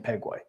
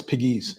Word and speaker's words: Pegues: I'm glad you know that because I keep saying Pegway. No. Only because it rhymes with P. JP Peg, Yeah. No, it's Pegues.